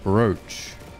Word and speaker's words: brooch: it's spelt v-r-o-o as in brew but it's pronounced brooch english language man let's go walk about eight